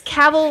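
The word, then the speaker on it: Cavill: Like I think of Henry Caval and even like the Chris's he said it's Caval like travel.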